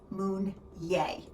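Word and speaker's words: Meunier: and p p m pronounced Moon yay grapes must be harvested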